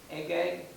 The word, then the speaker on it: Agag: The king's name was Agag, is how you pronounce it.